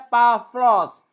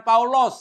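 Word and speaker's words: Παῦλος: artinya apa ini bacanya bacanya bukan Paulus bacanya pavlos udah dibaca F jadi dalam bahasa Yunani ini bukan paulos ya tapi pavlos ya Paulus ya Icha Oh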